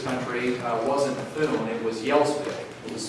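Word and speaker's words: Gjelsvik: But their name when they got to this country wasn't Thune, it was Yelsvik.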